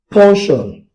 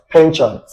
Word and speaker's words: penchant: Please note that the opposite or antonym for aversion is what I call punction. Also pronounced as penchant. In case you don't know, this word is either pronounced as punction or penchant.